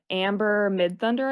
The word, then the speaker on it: Amber Midthunder: Amber Midthunder, I believe is how you pronounce her Mm-hmm.